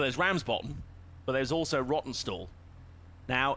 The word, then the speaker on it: Rawtenstall: And I was like, by the way, how do you pronounce that? And he was like, oh, it's Rottenstall.